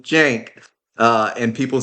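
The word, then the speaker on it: Cenk: We also know he wasn't calling him a jank. He was calling him Jenk.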